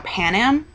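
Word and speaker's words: Panem: is now Pan Am Pan Am panum I think is how they want it pronounced in the movie It's Pan Am and I was like there's no a there that's an airline whatever and um but it's actually it's PanAm would be the pronunciation because it's a Latin word which means bread I know and um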